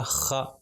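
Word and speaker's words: خَ: نام تھا خا، اور اس کے اوپر جب زبر آ جائے گا تو اس کا تلفظ ہوگا خا، خا۔ پھر اس کے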